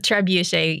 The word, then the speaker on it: trebuchet: doing Kev McGraw or sometimes building a backyard trebuchet yeah is that how you pronounce it by the way trebuchet uh trebuchet usually trebuchet okay so everyone has seen a